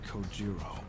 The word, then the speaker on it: Kojiro: The way he deliberately mispronounces my name really bothers me. It bothers me so much that the anger building inside me gives me the strength to open my mouth once more. It's Kojiro.